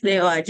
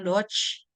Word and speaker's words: DOAJ: Nah, indeksnya ini ada di indeks Sinta, di indeks DOAJ. Jadi bacanya DOAJ ya, bukan Dodge. There's no Dodge, dia hanya DOAJ.